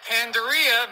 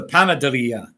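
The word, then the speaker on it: panadería: here it's the rocket pandaria mexican bakery not too shabby i pronounced it wrong it's a panaderia so yeah i'll give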